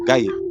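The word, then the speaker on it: غيب: It's pronounced similar to Gabriel, a Gaib.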